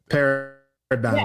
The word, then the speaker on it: paradigm: Paradigm. I like paradigm. That's how it sounds phonetically, paradigm. But the paradigm, it should be DIME, right? At the end of that. G should never be in there.